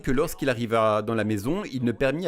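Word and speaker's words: μή: C'est le mot « mais », M-E, prononcé « mais », et cela signifie simplement « non ».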